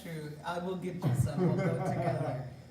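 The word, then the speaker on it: gâteau: But you gotta say it all French. It's spelled G-A-T-E-A-U. Get you. Get you, Twinkies.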